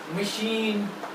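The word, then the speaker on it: machine: एम से मशीन। ठीक है, मशीन। अब देखिए ये प्रोनाउंस CH है, आवाज इसकी आ रही है शाह।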